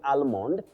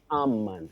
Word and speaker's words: almond: tricky you don't say almond from the spelling you say almond that l is silent then the o takes the weak sound a am then we have titus bravo you say legacy Legacy not legacy.